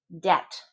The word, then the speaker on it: debt: Debt. Debt. Debt. No B either.